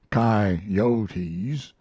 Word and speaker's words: coyotes: chinamen spaniards gamblers sharpers coyotes pronounced chi-yotis poets preachers and jackass